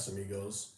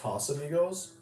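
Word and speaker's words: Casamigos: And I know it's Casam I know it's pronounced Kas amigos, but I am so used to my I'm so used to my customers be like, "Hey, let me get a C amigos."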